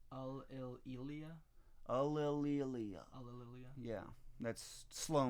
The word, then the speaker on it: Ulillillia: I'm very well known on the internet as Ulillillia, and it's pronounced Ulillillia. Ulillillia?